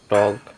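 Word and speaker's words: talk: এফ এর আগে এল পায়শ অনুষ্ঠিত থাকে যেমন টক ক্লাম হাল সাইলেন্ট পি পিএস বা পিএন এর শুরুতে পি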